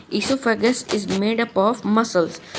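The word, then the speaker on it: oesophagus: और ईसोफेगस की ओर, यानी इसमें भी ओसोफेगस नहीं होता है, ईसोफेगस होता है। ईसो, ओके, ओ साइलेंट रहता है।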